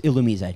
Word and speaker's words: Illumise: right now I actually found out the actual pronunciation is illumise okay so I also I also wanted to